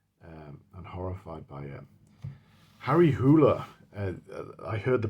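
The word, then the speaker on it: Harry Hole: Harry Hoola I heard the pronunciation from him as well. That's how it's pronounced in in Norway. I'd always pronounced it as Harry Hull but it turns out that he wanted um a Norwegian detective.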